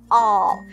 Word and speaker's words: all: All. Nhớ là không đọc là O nhé, không đọc thành âm O nhé, mà chúng ta phải đọc thành âm O dài, chúng ta nhớ chưa?